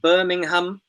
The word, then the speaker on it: Birmingham: syllables so for example Birmingham Birmingham we say in English the place name not Birmingham so the a at the end Birmingham just about disappears it's a sort of